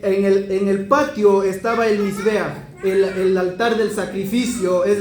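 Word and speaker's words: מזבח: Y si nosotros sacamos la gematría, escribimos la palabra Mizbeach se escribe con una Mem, una Zain, una Bet y una Het.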